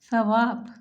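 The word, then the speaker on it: ثواب: Saum, Saum, Sawab. While pronouncing Sa, to touch your upper two C's with the tip of tongue softly because it is one of the soft letter.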